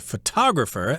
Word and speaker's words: photographer: who does this is a photographer again that would be the accent on the second syllable as well a photographer takes photographs